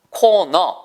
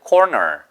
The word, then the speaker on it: corner: 보세요 여러분 단어가 있습니다 c r n r 코너 하지 마시고요 여보세요 물론 영국 사람들은 코너코너 이렇게 발음할 거예요 근데 미국사람들은 corner corner 따라하시면 돼요 corner 됐죠 그런데 불편하시면 지금 설명만